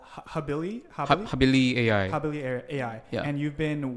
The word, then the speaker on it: HabiliAI: habibi or and many different names maybe my pronunciation is a problem but it's habili habili AI habili so yeah it comes from Latin word